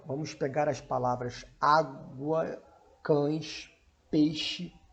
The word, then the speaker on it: cães: Percebam aqui como na palavra cães, a letra E, ela vai produzir o som de I.